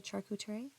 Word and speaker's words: charcuterie: you have make a charcootray board you know did I say it right did I say charcuterie that's how you say it with the salami and